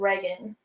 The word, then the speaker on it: Reagan: it's pronounced Reagan.